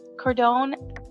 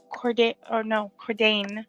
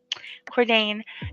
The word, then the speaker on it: Cordain: But Cordone, actually, I am the crown prince of Cordain, not Cordone, Cordain.